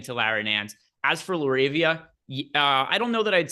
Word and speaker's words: LaRavia: So the question was La Rivera. I don't even know that. LaRavia is LaRavia.